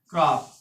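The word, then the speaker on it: crop: आर आया है और अगर आर आता है तो सी को क्या पढ़ते हैं का पढ़ते हैं सी का प्रोनाउंस का से होता है तो सी आर ओ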